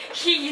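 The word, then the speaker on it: 秘技: ひぎなんです。秘密の技って書いてひぎって読みます。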